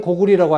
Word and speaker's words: 고구려: 그 계단은 거란을 읽으면서 왜 고구려는 고구리라고 안 읽고 왜 고려는 고리라고 안 읽느냐는 것입니다. 자, 한번 생각해 보세요. 고구리 1000년, 고려 500년 동안 리라고 읽었어.